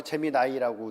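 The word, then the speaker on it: Gemini: 뭐 구글이 그거 쓰나 재미 나이 그죠 맞죠 재미이라고도 하고 재미 나이라고 읽죠 재미 나이라고 읽더라고요 근데 이제 구글도 있고 뭐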